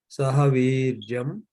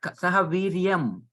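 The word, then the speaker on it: सहवीर्यं: Sahavirjam Yam Karavavahai. Karavavahai. Yeah, it's not Sahaviryam. That you have to pronounce not Makara, Kavarga nasal like Shankara.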